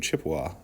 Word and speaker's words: Chippewa: us government often uses the word chippewa in connection with the ojibwe this word is mispronounced is a mispronounced version of ojibwe it came about when europeans initially met the ojibwe and mis understood how to say the name read about human